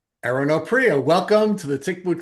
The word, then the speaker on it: Oprea: Erin Oprio, welcome to the Tick Boot Camp podcast.